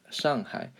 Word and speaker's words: Shanghai: China called Shanghai Shanghai Shanghai is actually the correct way to say it Shanghai so high what does that mean